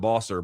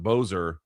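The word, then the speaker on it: Boser: Not Bosser, but Bozer.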